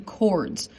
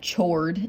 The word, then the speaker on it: chord: want to pronounce that chord it's not a chord it's a chord you don't pronounce the h it's a segment inside